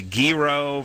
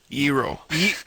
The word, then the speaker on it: gyro: I'm pretty sure it's a gyro. Oh, now okay, yeah. Like a gyro? Yeah. No. Sort of like a hero. But with not pronouncing the H that's not even there.